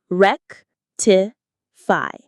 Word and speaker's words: rectify: Rectify. Rectify. stress on the first syllable.